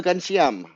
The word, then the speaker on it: Ghanshyam: So Ghanshyam is how you or Ghanshyam is how you pronounce it.